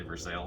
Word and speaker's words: Versailles: It looks like it's spelled Versailles, but the locals say Versailles, so I'll use that pronunciation.